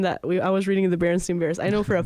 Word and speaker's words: Berenstain: So basically, the Berenstain Bears. Oh wait, no, it's Berenstain versus Berenstain, yeah. Right? Like Berenstain. It's spelled wrong, and it's crazy because everyone kind